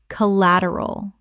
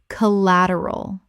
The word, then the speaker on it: collateral: Collateral. Correct pronunciation. Collateral. 4 syllables with the stress on the second.